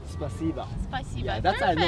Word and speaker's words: спасибо: In Russian, спасибо. Spasiba.